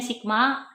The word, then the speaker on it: Sigma: kasih aja disini eeh secara matematis stigma ini bacanya Sigma arus masuk = Sigma harus keluar nah jadi